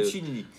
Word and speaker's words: Piccinini: Et aujourd'hui, je suis avec Piccinini. J'ai bien prononcé votre nom. C'est correct, c'est pas un nom facile, mais... Piccinini.